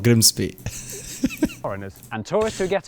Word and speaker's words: Grimsby: simple, but what if we told you it was pronounced Grimis? No, it's not. We'd be lying. It's Grimsby.